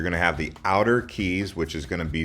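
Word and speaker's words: cayes: C A ye s but they're pronounced keys and there's around 450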